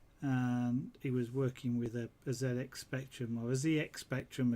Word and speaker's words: ZX: kept changing between what he was pronouncing as and trying to decide where they should call it ZX or Zed X I was quite funny in a way obviously the different pronunciations between the English in the and the American of course given that class Sinclair was English I reckon he should have been Zed X but anyway mr.